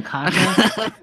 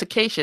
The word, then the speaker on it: Acacia: Even though that's spelled weird. You know, Kasha. No, it's Acacia, isn't it?